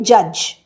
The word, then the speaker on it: judge: জাজ। তাহলে ডিটা কিন্তু প্রোনাউন্স হচ্ছে না।